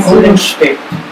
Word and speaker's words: Goldenstedt: How do you pronounce it again? Goldenstedt. Goldenstedt. Is it German? It's German. Okay.